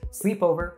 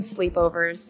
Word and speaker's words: sleepover: pronounced as sleepover sleepover the other syllables o and ver are pronounced with less stress sleepover when saying sleepover